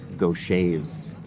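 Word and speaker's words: Gaucher: Because I just assumed on the pronunciation, I didn't actually read it. Gocha.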